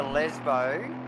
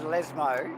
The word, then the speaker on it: Lesmo: For my pronunciation, it's the Lesbo. That was Lesmo.